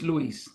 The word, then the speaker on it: Luis: you usually pronounce it Louise or how do you usually pronounce your name however much better to you but usually it's Luis Luis okay great awesome